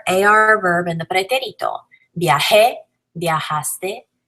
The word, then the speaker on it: viajé: Viajé and viajó, really accenting where the accent is.